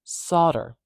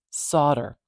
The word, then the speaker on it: solder: a primary stress marker the stress is at the beginning I'm put it right there solder solder you're not going to see a primary stress marker anywhere near the syllable that has the schah in it it's too weak to carry the stress solder solder there is